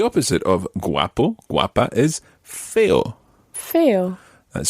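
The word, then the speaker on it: feo: sense now the opposite of guapo guapa is fail fail that's spelled f e o fail and the feminine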